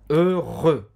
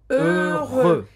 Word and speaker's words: heureux: Heureux. Heureux.